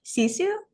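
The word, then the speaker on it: Sisu: Cisu Road to Revenge. Oh, yeah. Yeah. Yeah. The You're pronouncing it right.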